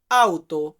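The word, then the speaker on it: auto: গাড়ির ক্ষেত্রে আমরা বলি লাউতো বাট সঠিক গাড়ির উচ্চারণটা হয় আউতো যাই হোক এরপর আছে কি মাছ মাছকে আমরা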